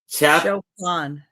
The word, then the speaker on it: Chopin: And we have the Chopin. Chopin. It's so weird to look at it like that, and it's and have it pronounced like that is odd.